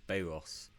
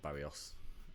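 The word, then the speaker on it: Bairros: noticed by the way it's Bayros Unidos not Barrios. Bayros b a i r r o s I've been saying it wrong all this time.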